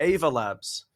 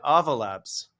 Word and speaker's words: Ava Labs: But I did notice, and you'll have to forgive my originally Australian accent, because I was saying Ava Labs with a strong A, but you said Ava Labs, like lava.